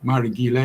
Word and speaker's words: Marighela: Marigila is spelled Marighela.